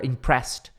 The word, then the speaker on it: impressed: All the adults ou all the adults were impressed. Impressed tem som de T.